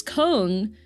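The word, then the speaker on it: Köln: Like in German it's con, but when you spell it out, you have like where did the other letters go?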